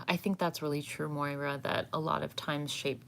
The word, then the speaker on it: Moira: start the process um um moira thank thank moira rose of shit's creek that's how i know how to pronounce it um so interpreting your your experience